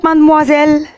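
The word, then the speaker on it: mademoiselle: مازمازيل دي بنقولها في اللغة العامية المصرية عندنا، لكن هي كلمة فرنسي، كلمة نطقها مات. هقولها بالراحة عشان تستوعبوها، وبعد كده نحاول نخطفها بسرعة. ماد موا زل، ماد موا زل، ماد موا زل، ماد موا زل.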